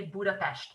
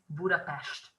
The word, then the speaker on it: Budapest: you should never say budapest but you should always say budapest and that is because s and z would give an s sound in hungarian but the single s